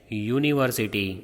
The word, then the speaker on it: university: No, because when you say university, it starts with Y sound.